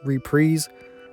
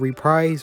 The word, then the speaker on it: reprise: And yes, that's how it's pronounced, reprise, not reprise or anything like that, at least from what I've seen online.